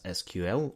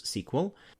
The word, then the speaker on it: SQL: The names for them are SQL, properly pronounced as SQL, or among some other groups SQL, and NoSQL, which is short for not only SQL.